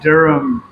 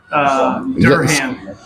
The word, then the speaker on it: Durham: I was down south in England, and I kept pronouncing Durham. Durham. You got it close now, yes. Yeah, Durham, and everybody's like, "What are you talking about?"